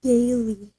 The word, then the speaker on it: Galilee: He had them go on ahead of him to the other side of the sea of Galilee. Galilee. That's my my my pronunciation guide for you.